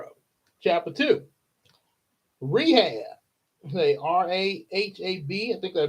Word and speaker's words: Rahab: That's still r a hab. I'm hope I'm pronouncing that right.